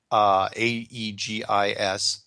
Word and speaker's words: Aegis: one of the more advanced, how do you pronounce that? Aegis ships? Yeah, Aegis. I think Aegis. it's Aegis, yeah.